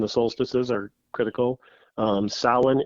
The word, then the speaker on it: Samhain: solstices are critical um salon it's not pronounced samhain if anyone says that please stop saying that it's solid it's irish okay it's an old word um irish spelling does not make sense with their pronunciations so um the band